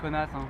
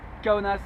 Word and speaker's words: Kaunas: faites bien attention à bien prononcer le nom de la ville je me souviens que c'est rigolo de dire kaunas forcément ça nous fait tous bien marrer mais ici on dit qu'à onas ils sont bien conscients